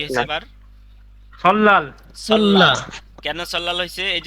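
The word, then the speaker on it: 설날: কি হইছে এবার সল্লাল সল্লাল কেন সল্লাল হইছে এই যে রিউলের পরে নিউন আসছে দেখছেন স্যার এই রিউলের পরে নিউন আসছে এই যে রিউলের পরে নিউন আসলে লয়াল উচ্চারণ হবে এখানে উচ্চারণ হবে সল্লাল উচ্চারণ কি সল্লাল সল্লাল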